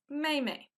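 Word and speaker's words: 妹妹: And you might see that the tone is not on the second syllable. That makes the second syllable a little bit softer. So instead of mei mei, it's mei mei.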